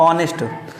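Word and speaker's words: honest: पे क्या लिखा है एच से हमारी स्पेलिंग शूरी हो रही है लेकिन जब इसका प्रोनंसिएशन करते हैं तो क्या बोलते हैं ऑनेस्ट ठीक है क्या बोलते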